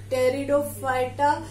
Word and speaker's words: Pteridophyta: P is silent, pronounced from the T. Pteridophyta, they consist of fern.